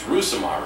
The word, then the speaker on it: Rousimar: I don't mispronounce it it's rousimar right yes where's Michael ours rousimar